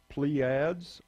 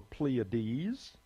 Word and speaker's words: Pleiades: Here, depending on how you want to pronounce it, Pleiades or Pleiades, however you want to say it.